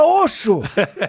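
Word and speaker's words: Oxxo: Né, que fala, pronuncia Oxo, mas pô, é Oxo. O-X-X-O. No Brasil é Oxo.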